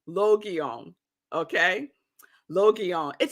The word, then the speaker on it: Logion: on your screen and yesterday I was saying Lagoon that's so wrong that was so wrong it is pronounced on it's three it's three um syllables Logan okay Loki on it says it's all right